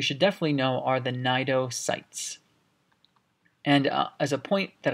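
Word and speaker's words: nematocytes: one structure you should definitely know are the nato sites and as a point that i forgot to mention this is not pronounced Kanade area or Synod area this is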